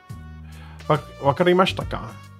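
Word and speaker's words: わかりましたか: Wakarimashita ka? That's how it's actually pronounced. As a she, but the I doesn't get pronounced loudly.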